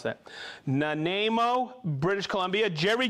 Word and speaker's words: Nanaimo: I always mispronounce that. Nanaimo, British Columbia.